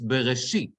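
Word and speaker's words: בראשית: It's Bereshit. How do I know that? If you look, the trope, the tipcha, is under the shin. And therefore, the accent is there, right? Even though I have several syllables in that word, the accent is going to be where the trope is located.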